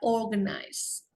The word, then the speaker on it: organize: R-nya tidak perlu terlihat jelas sekali ya, organize.